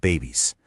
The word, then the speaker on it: BEBBIIS: She discovered BEBBIIS, yep, pronounced babies, a radical idea focused on animal-based foods.